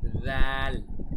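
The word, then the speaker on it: ذال: খেয়াল রাখবেন দাল বলার সময় আমরা একটু আগে যেভাবে সা উচ্চারণ করেছিলাম, জিহ্বার একদম সামনের সাইডটি উপরের দাঁতের সাথে আমরা লাগিয়েছি, ঠিক একইভাবে জাল বলতে হবে আমাদের। জাল, জাল, জাল।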